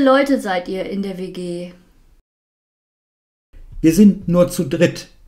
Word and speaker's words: WG: Wie viele Leute seid ihr in der WG?